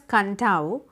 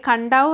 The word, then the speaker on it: Kadavu: So, കഡാവു island അല്ലെ കണ്ടാവു എന്നാണ് അതിൻ്റെ കറക്റ്റ് പ്രൊണൗൺസിയേഷൻ.